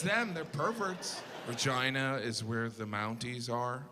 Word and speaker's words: Regina: The capital is Regina. That's not necessary. Regina. They could have pronounced it Regina. They did that on purpose cuz they're perverts.